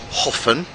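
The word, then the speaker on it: Höfn: it's great which for most of you is pronounced hoffen and it's one of the very few towns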